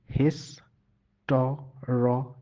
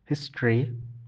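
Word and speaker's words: history: আম, ইংরেজি বানানের যদি আমরা খেয়াল করি, হিস্ট্রির ইংরেজি বানান, তাহলে কিন্তু বেশি এটার উচ্চারণ হয় হিস্টোরি, এবং আমরা বেশিরভাগ সময় এটা হিস্টোরি বলি, কিন্তু এর উচ্চারণ হিস্ট্রি।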